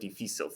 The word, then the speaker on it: difícil: It ends in something other than a vowel N or S, and the stress is on the second syllable.